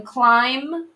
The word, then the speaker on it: climb: paired with the r then in climb can't hear the bee lim can't hear the